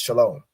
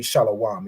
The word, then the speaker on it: Shalom: word shalawam or this it would really be pronounced Shalom right because this W isn't it's not a consonant it's an added vowel so even in this it wouldn't be shalawam it would be pronounced